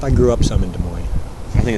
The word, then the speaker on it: Des Moines: des moines yep i grew up some in des moines i think it's pronounced does moines i believe you're correct it